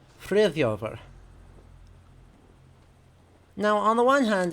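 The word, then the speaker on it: Friðþjófr: In Old Norse, that is spelled F-R-I Ev Thorn Yod accented O F-R. Frithjofer.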